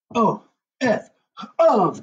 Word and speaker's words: of: word off um or if you were to sound out of you might spell it uv but of is spelled